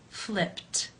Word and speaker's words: flipped: you pronounce this sound in the infinitive the final sound of the verb is p p which is unvoiced therefore it is case one and the Ed is pronounced as a t flipped flipped how do you